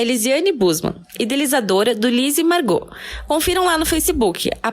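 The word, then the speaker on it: Margaux: A convidada de hoje é Lisiane Busman, idealizadora do Lise Margot. Confiram lá no Facebook a página Lise Margot Tricô e o grupo Lise Margot Tricotando. Margot se escreve M-A-R-G-A-U-X.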